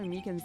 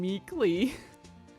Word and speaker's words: Meekins: Actually, Officer Meekins at the detention center told us. Ah, that poor little poor guy. I keep getting his name wrong and calling him Meekly.